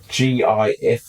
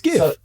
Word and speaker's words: GIF: What sound does graphics start with? G. G. G. Not a J. Yeah, so it's GIF. So, but there's a whole video here, and it's pronounced GIF, not GIF.